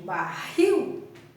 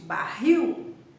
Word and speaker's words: barril: regra muda um pouquinho Quando eu digo o barril essa última sílaba aqui é a sílaba forte barril é barril então para eu passar